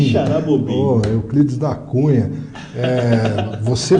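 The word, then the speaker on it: Quixeramobim: Nem sei pronunciar esse nome. Como que é o nome? Quixaramobim. Quixaramobim.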